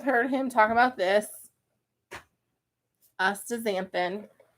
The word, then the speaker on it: astaxanthin: Then you have heard him talk about this astaxanthin, right?